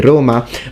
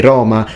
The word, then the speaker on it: Roma: you're from the north you will always close and say roma but in sicily we say roma which is closer to how it is in latin so for me it's natural to say roma like the romans did but not for him